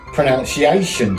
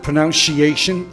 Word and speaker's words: pronunciation: Pronunciation time. It's not pronunciation. It's pronunciation. A shaving cream.